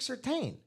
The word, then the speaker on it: Surtain: to say their name, his dad, for the longest time, was just being called Patrick Surtain until like years into his career. He's like, hey, guys, it's actually Surtain.